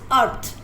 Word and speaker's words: earth: इसमें जो फर्स्ट वाला ई है दैट इज साइलेंट, और इसकी साउंड ए की साउंड अ आ रही है.